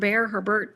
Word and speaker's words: Herbert: we could play these people again with her herbert.